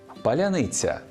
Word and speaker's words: паляниця: монету все буде паляниця справді росіянам важко вимовити це слово бо в їхній мові немає м'якого звука ц так само складно їм